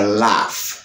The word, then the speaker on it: laugh: Lorsque vous gagnez G plus H à la fin d'un mot, eh bien G H ça a lui prononcé comme F. Exemple, nous gagnons laugh, ok?